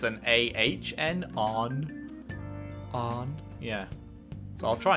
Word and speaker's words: Ann: keep on in Saint Anne but it's they're pronouncing it on with like it's like it's an Ahn on yeah so I'll try and get that